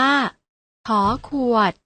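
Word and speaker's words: ฃ: อ่าน ว่า ข ไข่ พยัญชนะ ตัว ที่ 2 อ่าน ว่า ข ขวด พยัญชนะ 3 ตัว หลัง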